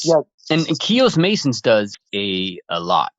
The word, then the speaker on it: Keos: Yeah, we're French people, so we thought it would be pronounced chaos, but we realized after it's actually pronounced Keos, so we're dealing with this right now.